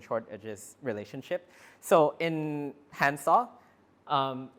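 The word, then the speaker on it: DiskANN: uh discan graph uh I asked one of my friends how to pronounce this word and he said handsaw so I'm going to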